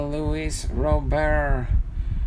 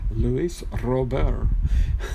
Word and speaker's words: Luis Robert: And I guess he got interviewed and he said, no, it's Luis Robert. It's Luis Robert, just Luis Robert.